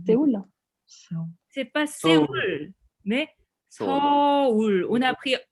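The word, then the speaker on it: 서울: c'est pas Séoul, mais Seoul. On a pris O. Ouais, c'est Seoul. C'est les étrangers qui disent Séoul, mais c'est Seoul.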